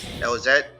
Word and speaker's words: Elzette: We get the is Elzette cuz people say I don't pronounce the Z Elzette.